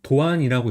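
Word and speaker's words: 堂安: 성은 이제 도안이라고 읽어요. 그래서 집 당당하고 편안이 합쳐진 한자예요. 그래서 집은 도. 그다음에 편안한 같은 경우는 여기서는 아니라고 요. 그래서 아까는 야스 있는데 여기서는 이제라고 있죠.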